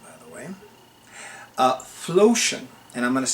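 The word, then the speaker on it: Phlocion: Flotion. And I'm going to spell it for you. It's capital P-H-L-O-C-I-O-N. Flotion.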